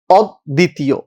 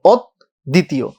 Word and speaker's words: অদ্বিতীয়: দ্বিত্ব হইলে উচ্চারণটা কিন্তু, এই উচ্চারণটা অনেকেই ভুল করে, অনেকে অদ্বিতীয় উচ্চারণ লিখে আসে, কিন্তু উচ্চারণটা কি ভাই? অদ্বিতীয়, অদ্বিতীয়।